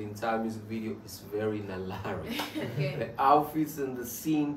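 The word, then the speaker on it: 날라리: It's hard to explain with words, and actually the entire music video is very Nalari. The outfits and the scene too, is Nalari. And in Korean, Nalari pronunciation is closer to LALALI.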